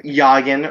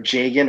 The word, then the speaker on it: Jagen: Or Yagen, or Yagen, or Jagen, or Hagen, depending on how you want to pronounce his name from Marth's game.